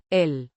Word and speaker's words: él: ill, a pronoun meaning him or he referring to a male person or entity previously mentioned pronounced ill similar to the English word l.